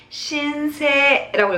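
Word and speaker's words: 申請: 신청하다 할 때는 이번에도 신이라고 읽지만 어떻게 읽는다? 뒤에 신세라고 읽어요. 다시 한번 신세, 세이를 장무를 갈게요. 신세라고 읽습니다.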